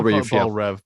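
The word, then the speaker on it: Belle Reve: that what they call I always B rev because that's actually how you pronounce it but yeah B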